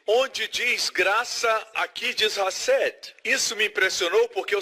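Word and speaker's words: חסד: Tem que pronunciar com som gutural. Hased.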